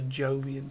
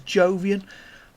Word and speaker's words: Jovian: played that has a Jovian tag, which is that one. I keep pronouncing that as Jovian, but I don't think it's pronounced Jovian. I think it's pronounced Iovian, but I'm not 100% on that.